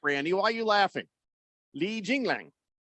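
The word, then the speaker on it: Li Jingliang: Li Jinglang. That's how you say it.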